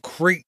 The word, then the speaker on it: Crait: You can now visit the Planet of Crate, that's spelled Crait, during Star Tours.